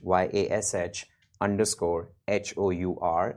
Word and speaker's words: Yash Hour: It's Yash, YASH _ HOUR. It's Yash Hour, rhymes with rush hour.